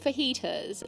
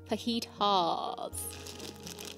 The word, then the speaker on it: fajitas: 60% cassab FYI it's not pronounced fajitas it's pronounced fajitas faitas it's not liosa it's liosa it's not fajitas it's faitas cheese get it right all right I've learned